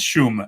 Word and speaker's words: Szum: So the right way is not the way I say it anymore because nobody gets it right. But it's Shum. The SZ turns into SCHU, right?